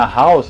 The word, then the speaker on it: Halls: falar então aquela balinha halls a pronúncia original dela em inglês que você fala hall né porque vende hall de